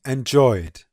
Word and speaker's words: enjoyed: And finally, enjoyed, enjoyed. The diphthong oi is voiced, so we use d to get enjoyed, enjoyed.